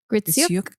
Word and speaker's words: Gritsyuk: Gritsyuk.